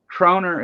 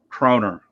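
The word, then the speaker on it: kroner: and so they uh croner is pronounced the way you pronounced it the first time around minus the Kentucky accent it means crowns in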